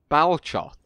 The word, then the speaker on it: Balchoth: said balcloth as well it's belcha unless there's some kind of weird pronunciation that tolkien intended for the easterlings where an h is an l or something uh but no that's